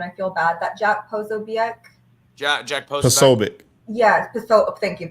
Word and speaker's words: Posobiec: So Jack Posobiec, how do you pronounce it, Cash? Posobiec.